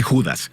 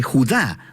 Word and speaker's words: Judá: hermosa veamos Este vídeo la carta de Judas o más precisamente Judá de acuerdo con la pronunciación de su nombre tanto en griego como en hebreo Judá Era uno de los